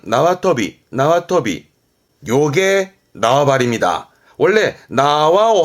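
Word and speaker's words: 縄跳び: 줄넘기 발음은 나와터비, 나와터비.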